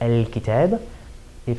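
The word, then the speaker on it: الكتابِ: a definite noun like al-kitab, if it were majrur because of something that happened in the sentence, it would have one kasra on it. Al-kitabi is how we would pronounce it fully vocalized.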